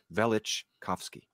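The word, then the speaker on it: Velichkovsky: velic chowski I always people dispute the pronunciation of both his first last name but it's vich kovsky I can never say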